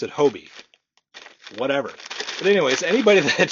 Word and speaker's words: Hobbii: anybody shops at Hobby Hobie hobby I always pronounced it hobby but then I watched a video of someone from the actual company saying Hobie so now I pronounce it Hobie whatever but anyways anybody that shops at Hobie